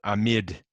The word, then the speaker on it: amide: there's our strong base it's called amid notice i didn't say amide even though it's spelled that way don't want to confuse it with the functional group that has a carbonyl and amid is the